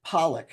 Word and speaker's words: Poliak: I'm going to pronounce it Pollack because that's the way it's pronounced, but it's spelled Poliak, Poliak.